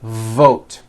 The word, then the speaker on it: vote: the word v vote you've got to stretch out the V like this V vote V vote are you hearing that long V sound that's what you should be doing now depending on your native language you may be replacing your V sounds for w sounds be careful not to do this the word is not W it's V vote every V that you